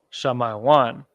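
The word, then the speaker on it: שמעון: the so-called Dominicans so in the pronunciation of Simeon and the ancient Hebrew is uh I don't need to put capital on here Sha my one shall my one Simeon shall my one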